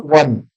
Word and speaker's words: one: So have you seen even though O is a vowel, but it is pronounced like wow. Okay, one.